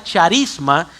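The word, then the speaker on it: χάρισμα: El movimiento carismático toma su nombre de una palabra griega compuesta que que se pronuncia charisma, que significa charis, que lo que significa es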